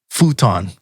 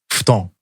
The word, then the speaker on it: futon: So the next word is futon, or as pronounced in Japan, futon.